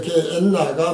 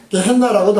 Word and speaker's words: 게엔나: 게헨나는 이제 발음이 원래 게엔나가 맞는 것인데요, 게헨나라고도 하고 게엔나라고도 합니다.